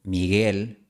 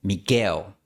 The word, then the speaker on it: Miguel: Por ejemplo, podrías terminar pronunciando Miguel como Miquel.